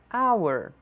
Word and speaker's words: hour: Nem sempre as consoantes que iniciam uma palavra serão pronunciadas. Vamos tentar repetir 3 vezes as palavras a seguir. No, no, no. Hour, hour, hour.